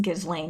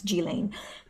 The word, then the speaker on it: Ghislaine: jillaine I found out her name's not pronouncing Ghislaine it's G Lane excuse me joked that